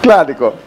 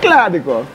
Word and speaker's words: Claudico: You say it like almost like it's like a little like Finnish Italian almost like Claudico. The Latin is Claudico. Claudico. Claudico. Claudico. And actually, it's still Italian for I limp as well, but they probably pronounce it differently.